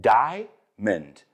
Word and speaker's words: diamond: It's not "di-a-mond". It's diamond. So, a lot of times you'll find that we eat that middle syllable over there.